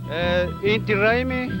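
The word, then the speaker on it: Inti Raymi: How do you pronounce that name? Inti Raimi is Indian language in Ecuador, which means Harvest Festival.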